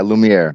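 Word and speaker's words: Lumière: their Trident yeah lumere is that a confirmed uh pronunciation yeah Lumiere lumere lumere doesn't get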